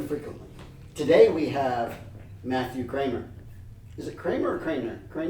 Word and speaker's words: Cranmer: It's Cranmer, but I think when you say it like 3 times fast, you say Cranmer. You just start to lose the N.